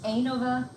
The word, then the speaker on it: ANOVA: This word, by the way, is ANOVA. It's always ANOVA. I've heard many different pronunciations. ANOVA, ANOVA, it's ANOVA.